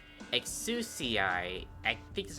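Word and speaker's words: Exusiai: nice okay i never understood how to like pronounce his name excuse ci i think this is how you pronounce it exo-ci is a sniper operator with the ability to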